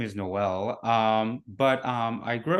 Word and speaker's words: Noel: your name right yeah it's actually pronounced um like Christmas like Noel so it's like a Noels art yeah oh okay um